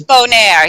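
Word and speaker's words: Bonaire: how do you say that place morning that's bone air yes so so all three of the islands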